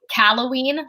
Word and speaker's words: Callaghan: i i always say calloween so like the gh is silent oh halloween that makes